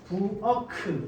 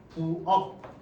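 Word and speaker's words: 부엌: 부어크 이렇게 발음하지 않죠, 그죠? 부억.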